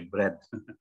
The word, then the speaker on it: bread: Kalau baca roti itu bread, ya. Memang tulisannya ada ea. Ya, biasanya itu bacanya equals. Ya, untuk roti bacanya bread. Jadi a-nya nggak dibaca, e-nya aja bread.